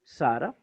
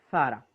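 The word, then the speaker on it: Ζαρά: Zara, en griego hay una Z. Repito, dejemos de lado, y aquí vamos a tener que luchar contra nuestra naturaleza ya idiomática, del ceseo, de, repito, escribir zapato y leer zapato y no hay problema. No, aquí vos, sin griego, hay sigma, leeremos Sara. Por ejemplo, si ahí hubiese una sigma, sencillamente Sara, pero no hay sigma, es Z. Entonces leeremos Zara.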